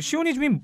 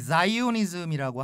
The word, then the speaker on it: 시오니즘: 땅이라 그러면 아니 근데 그 시오니즘 말씀하신 시오니즘이 뭐예요? 네, 시오니즘이 이제 영어 발음으로는 이제 자이오니즘이라고 하는데요.